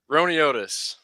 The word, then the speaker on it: Roiniotis: Roiniotis.